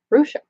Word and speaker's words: Rusha: It sounds just like it looks. Rusha.